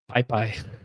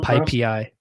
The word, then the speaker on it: PyPI: or, I've actually learned it's not pronounced PyPy. I think it's called PyPI.